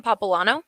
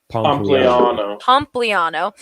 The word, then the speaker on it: Pompliano: pop how do you say his last name popplano pompliano he said estimates suggest reggie bush would make